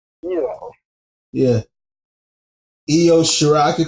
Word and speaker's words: Io Shirai: I could call her Lo Shirai, you know. It's Io. Yes, actually pronounced Io. Yeah. Io Shirai.